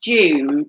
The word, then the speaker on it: Joom: them although they're the same never heard of jew no it's pronounced june as in j double o m doom as